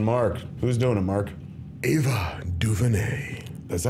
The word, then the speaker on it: Ava DuVernay: Ava DuVernay. Is that how you pronounce her name?